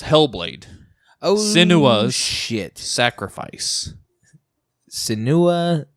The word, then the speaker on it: Senua: Senua, it's Senua. It's Senua. If It's- anyone's wondering to how to pronounce it, it's Senua.